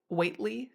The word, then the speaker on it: Whately: named Ollie and Elise Whately. It's spelled Wheatley a lot of places, but Elise apparently later corrected that and said it's like Whatley, Whately, Whately.